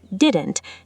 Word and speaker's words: didn't: In the contraction didn't, notice what happens to that middle T sound. In fast, casual speech, it frequently becomes a glottal stop rather than a fully pronounced T. So, the word sounds closer to didn.